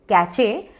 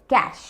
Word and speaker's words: cache: अब उस वर्ड का प्रोनाउंसिएशन है कैश। स्पेलिंग है CACHE, कैचे, but correct pronunciation है कैश, कैश।